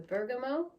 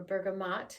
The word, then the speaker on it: bergamot: right now i have the bergamo or bergamot depending on how you say it and then i have